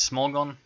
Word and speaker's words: Smorgon: smog on Welsh Mohan not sure it's spelled differently actually in Belarusian it's about SHM on plain English it's small gan if there are any